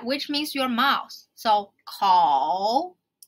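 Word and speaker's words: 口: Call. Oh. So oh. So first pronounce oh, like you know something. Oh, and then add a k sound. Call. Call. And then your lowest voice in your vocal range.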